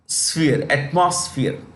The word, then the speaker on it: atmosphere: you see this here it is pronounced with an SF not SP pillow does not sphere atmosphere so we emit greenhouse